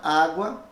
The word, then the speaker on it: água: Agora, olha a palavra água, a palavra cota, que também pode ser escrita com a letra C, em vez das letras QU. Agora, a letra U é pronunciada fracamente.